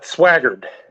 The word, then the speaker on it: Swaggered: how do you say your last name uh swaggard swagger it was right you were right yeah